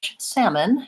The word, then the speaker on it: salmon: American English and in North American English salmon has no L sound so that's another silent